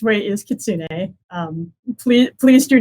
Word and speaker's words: kitsune: Well, okay, so the correct way is kitsune. Please do not with any kitsun or kitsune.